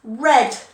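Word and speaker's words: read: the same but it's it's still spelt the same but it's pronounced red red it sounds like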